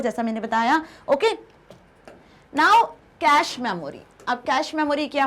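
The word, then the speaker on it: cache: कैश memory बहुत fast accessible memory होती है ना, इसको आप कैश की तरह भी प्रोनाउंस कर सकते हो।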